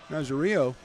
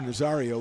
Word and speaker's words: Nazario: Nicholas O'Rourke and Benny Nazario, or Nazario would be the right way to say that.